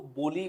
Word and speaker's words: बावली: तो next tourist destination है हमारे पास ला बावली। बेसिकली इसको बोली बोलते हैं। डबरी में अगर आप देखेंगे स्पेलिंग में ऐसे बावली आ रहा है। ला बोली। बोली बेसिकली क्या होता है दोस्तों?